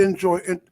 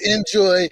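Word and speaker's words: Injoy: let me say um because everybody will naturally think of enjoying the traditional spelling but enjoy is spelled i-n-j-o-y and it's you know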